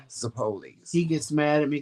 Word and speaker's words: zeppoles: Everybody else says it zappolis or, you know, zeppolios or something like that, but it's actually pronounced zeppoles.